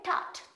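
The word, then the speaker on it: tart: अब आते हैं टट। टट। इसमें भी ये जो आर का प्रोनाउंसिएशन थोड़ा सा कम होता है।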